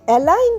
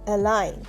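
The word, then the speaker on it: align: এই এলাইন শব্দতে কিন্তু জি silent. A এল আই জি এন এলাইন। এখানে কিন্তু জি এর উচ্চারণ হচ্ছে না।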